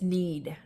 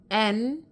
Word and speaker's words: Nedd: And my last name has always been mispronounced as Need sometimes, which is actually spelt Nedd, Ned.